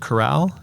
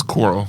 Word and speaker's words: Choral: It's from Sony Pictures, or maybe it's pronounced Corral. No. I think it's Coral.